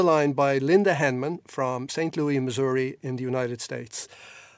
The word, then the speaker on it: St. Louis: Louis, but in St. Louis, we do not have the French pronunciation. We say yes on the end of Louis, okay.